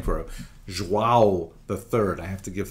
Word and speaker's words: João: I used to think it was João, like when the baby was born, the mother would say, João, it's a boy. But it's actually João.